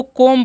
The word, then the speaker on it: comb: तो इसे हम क्या पढ़ते हैं, इसे पढ़ना है आपको कोम पढ़ना है, क्योंकि यहाँ पर जो बी जो है साइलेंट है, ठीक है।